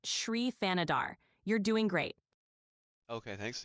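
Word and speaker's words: Shri Thanedar: Shrianader. How is that? How do you say her name? Her name is pronounced Shrianadar.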